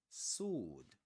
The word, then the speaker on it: sword: Sword. Sword. What about this one? Sword. Here the the W is silent. We don't pronounce it. We say sword.